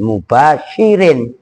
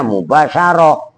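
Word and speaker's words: مباشر: Sepi atau telanjang min nuni tauhidin mubasyirin. Nah, itu enggak ada tnya. Jadi mubasyir. Kalau ada tnya mubasyarah. Begitu loh cara membacanya.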